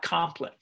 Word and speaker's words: Compline: And then when I went a few years later, when I had become an Episcopalian, I went, oh, that's Compline. I've been mispronouncing it all these years, kind of thing.